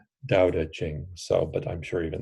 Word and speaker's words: Tao Te Ching: us like Tao teachings I know that I've been told that pronounciation is a little different it's something closer to daodejing so but I'm sure